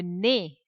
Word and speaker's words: nez: Le nez. Le nez. In sounds, we have seen this word, these combination sounds EZ. When they are together, the sound is A. Le nez.